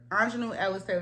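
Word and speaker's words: Aunjanue Ellis-Taylor: Anjanou Ellis Taylor, that's how you say her name.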